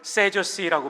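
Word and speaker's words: Sadducees: 사두개인, 영어로는 세저시라고 발음합니다.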